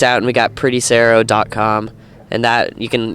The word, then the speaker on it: Saro: you guys and Sarah it's spelled SAR oh and it rhymes with Pharaoh and we're also on